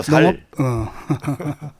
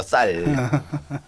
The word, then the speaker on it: 쌀: 된다고 하 살 문제입니다 아니고 살 살이 아니라니까 살 살 저는 이제 구별이 안 되는데 제 그 동네에서 아주 섬세하게 구별하 나도 할 줄 알아요 쌀 예 우리 농천 얘기입니다